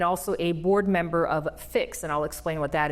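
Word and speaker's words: PHIX: you are the executive director of fix and that's spelled p IX Physicians health information exchange and that's what we're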